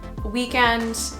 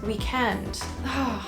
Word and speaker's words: weekend: word but pronounced differently my personal favorite is weekend weekend can't wait for the weekend that that sounds so great the one i don't